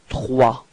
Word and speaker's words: trois: Okay, so remember that O plus I gives you this wa wa wa sound. Okay, and then the final S is not pronounced. So you get this trois.